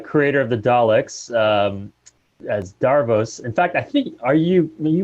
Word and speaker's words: Davros: meant to do Davros, that's Davros, spelt with a V, Davros.